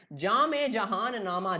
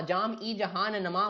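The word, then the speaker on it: जाम-ए-जहाँ-नुमा: इसको कैसे प्रोनाउंस करते हैं? जामे जहान नामा। जाम ई जहान नमा मत लिखना, जामे जहान नामा।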